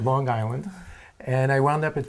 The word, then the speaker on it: Long Island: University in Long Island Long Island with a G Long Island you have to say it right that's right Long Island and I wound up